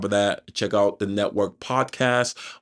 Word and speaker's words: NETWRK: And then on top of that, check out the Network Podcast, which is pronounced network, but it's spelled NETWRK.